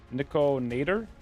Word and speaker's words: Nikator: about midnight Suns also you pronounce it niik nitor Nicor nikator like Terminator but niik niik is it n was in like Greek instead of tery like Terminator but Nico instead of termy okay I'm getting nowhere